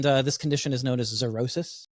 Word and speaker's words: xerosis: And this condition is known as xerosis. It's spelled with an X. Xerosis, pretty cool.